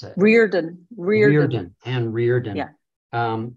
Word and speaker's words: Riordan: How do you do you pronounce it? Riordan.